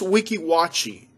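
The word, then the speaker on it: Weeki Wachee: i'm just making up as i go it's pronounced wiki watchy it's uh right outside of spring hill florida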